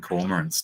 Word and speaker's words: cormorant: We call them cormorants down here. Cormorant. I can't even say it that way. And this is we pronounce both the R's in that word.